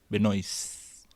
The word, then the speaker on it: Benoist: what would your first date be with Melissa Benoist? Is that how No, you say it? without the last T. Benoist.